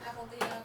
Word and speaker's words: apl.de.ap: Apple Diab, and the other flower.